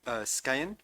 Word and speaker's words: Scăieni: And if you'll forgive my pronunciation, the Romanian Phalanstery Scăieni, is it?